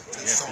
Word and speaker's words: Toussaint: Toussaint.